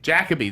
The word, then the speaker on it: Jacobi: Jacobi, Michael Pena. Michael Pena. Jacoby. Huh? Jacoby. Jacobi.